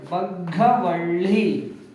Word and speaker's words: ಬಗ್ಗವಳ್ಳಿ: ಗೆ ಳ ಒತ್ತು ಳಿ ಬಗ್ಗವಳ್ಳಿ ಬಗ್ ಬ ಘ ವ ಳಿ ಬಗ್ಗವಳ್ಳಿ ಬಗ್ಗವಳ್ಳಿ ನೋಡಿ ಇಲ್ಲೂ ಕೂಡ ಒತ್ತಕ್ಷರ ಇದೆ ಇಲ್ಲೂ ಕೂಡ ಒತ್ತಕ್ಷರ ಇದೆ ಒತ್ತಿ ಉಚ್ಚಾರಣೆ ಮಾಡಿ ಬಗ್ಗವಳ್ಳಿ ಮುಂದಿನ ಪದ ಸ ಗು